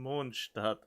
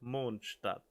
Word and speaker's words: Mondstadt: I have some impressive friends in Mondstadt. And yes, that is the correct pronunciation, if you have to ask. Mondstadt.